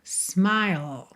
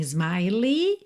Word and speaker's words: smile: Então, olha, your smile, smile. Tá? Atenção aí a pronúncia dessa palavra. S m I L E. Não é smile, nem smiley, tá?